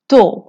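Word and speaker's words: tôt: তো তো মানে তাড়াতাড়ি। এখানে টিটা সাইলেন্ট। tard tard মানে দেরি।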